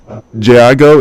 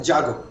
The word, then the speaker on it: Jago: All right, so it's Jago. Is that how you pronounce the foundation? Yeah, Jago.